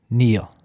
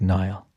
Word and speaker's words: Niall: So read into that whatever you like, but my name is pronounced Neil, even though to anybody who's looking at it not through the Irish language, which is the majority of people in the world, it looks like Niall.